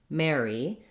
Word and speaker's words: Mary: air you want air mare mary first syllable stress and just a short e sound for your letter y watch out that